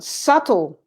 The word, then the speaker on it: subtle: is a funny one subtle suiting subtle that's very subtle but i don't say b huh the b disappear in this sound okay any comments do